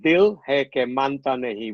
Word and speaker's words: Dil Hai Ke Manta Nahin: And then the Dil Hai Ka Manta Nahin. Now, what exactly does the 1991 Aamir Khan title mean? What does that mean? Okay, so it's pronounced Dil Hai Ke Manta Nahin, which basically translates to "the heart won't listen."